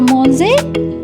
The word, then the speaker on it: mangé: It will pronounce as A. Manger. Okay? And this acute symbol will be with E. So, je mange, tu as mangé, elle a mangé.